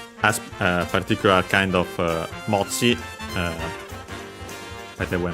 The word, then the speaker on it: mochi: By the way, mochi on its own is unaccented, while this one, it's the compound is accented on the last syllable, on the sa, ksa mochi, just like ksa, but most likely it's simply because it's a compound.